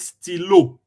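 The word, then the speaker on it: stylo: Pen right in French they call it stilo. Still. Yeah. So if you want to say I have a pen nilo. This is sto is it is spelled s t y l o.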